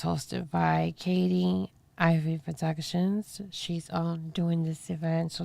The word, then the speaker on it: Ivy Production: Okay, so you just hit up her page called Ivy Production. Okay, and I'll tell you how to spell it because it sounds like I'm saying ivory. But it's not. It's Ivy Production.